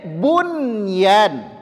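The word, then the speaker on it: بنيان: Tapi tidak, membacanya dunya, diizharkan. Dunya. Kemudian bunyan, bunyan, qinwan, qinwan, sinwan.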